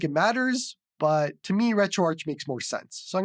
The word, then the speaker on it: RetroArch: But RetroArch was created or based on Arch Linux. So that makes more sense for RetroArch.